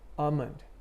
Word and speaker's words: almond: often mispronounced so so first word almond you say amen you don't say almond you don't pronounce the l right second word let's